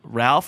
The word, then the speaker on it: Ralph: It's how it's spelled. It's not how it's pronounced. Wait. It's spelled R-A-L-P-F, and it's pronounced Ray.